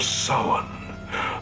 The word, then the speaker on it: Samhain: it is to actually hear someone pronounce Samhain right. None of this Sam Hain bollocks like we had in Halloween 2.